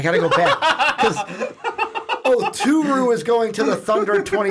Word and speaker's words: Oturu: 25, Daniel Othuru. No, there's no H. See, that's why I keep screwing up. There's no H. Oturu.